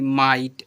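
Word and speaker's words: might: एच टी नाइट एम आई जी एच टी माइट ऐसे पढ़ते हैं।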